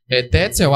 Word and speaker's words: Tetzel: Essa pronúncia também é do autor do livro no vídeo. Tetzel, amando da igreja, ele começa a vender o que se chama de indulgências.